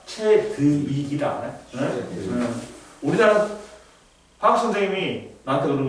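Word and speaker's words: Chadwick: 위원회하고 안 좋으니까 그리고 중성자를 발견한 사람은 최두익이 아니라 채드윅이다 우리나라 화학 선생님이 나한테 그러는 거야 우리 발음이 안 좋아서 발견한 사람이 최저 위기야 그러니까 우리는 발음이 어 우리나라에서는 벌게 됐다고 최두익이라는 사람이 어우 너무 이상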